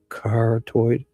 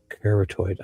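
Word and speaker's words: carotid: And this is a result of both corottoid corateed arteries being breached. There's my this word tricks me every time. Cored like after I say it wrong I get it. Corateed. Cartoid.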